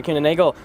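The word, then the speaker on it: Kuehne + Nagel: So, our next arrival is our Atlas Air Kuhn & Nagel livery. Flight 8642. Doubt I said it right, but that's okay.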